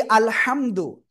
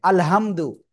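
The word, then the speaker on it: الحمد: অথচ এই আলহামদু হা এর জায়গায় যদি উচ্চারণটা হা এমন উচ্চারণ হয়ে যায়। আলহামদু তাহলে অর্থ কি হবে জানেন? সকল ছেড়া ফাটা বা দুর্গন্ধ বা ময়লাযুক্ত সকল বস্তু আল্লাহর জন্য আস্তাগফিরুল্লাহ তো দেখেন তাহলে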